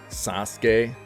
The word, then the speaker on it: Sasuke: Yeah, I butchered it again, I think, but my bad. Everybody's like, you don't know Naruto? Sasuke.